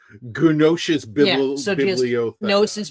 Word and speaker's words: Gnosis: Okay, Like, I figured the G was silent. in this case, it would be, but like, Yeah. if there, it's usually an A in front of it, so agnostic. Okay. But like, how are you going to pronounce Gnos? Gnosis Yeah, so just Bibliotheca.